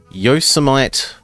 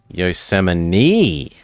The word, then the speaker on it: Yosemite: Yosemite. Apparently. It's spelt Yosemite, but whatever. Regional dialects.